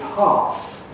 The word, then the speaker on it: hearth: And bath goes with start, which means that bath rhymes with half. That's a fireplace, half, H-E-A-R-T-H.